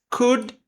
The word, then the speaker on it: could: Humans could. Também não lemos esse D.